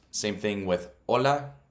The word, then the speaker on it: hola: Same thing with hola. It's not hola. So there's the first lesson, is the H is silent.